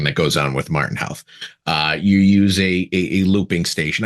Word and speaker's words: Howth: They would go Houth, or so I was like, make it so simple, Howth.